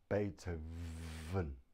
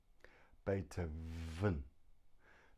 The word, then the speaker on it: Beethoven: and not even then so we have the letter V pronounced but now you put your teeth on your bottom lip here on your bottom lip and breathe Beethoven Beethoven the V is made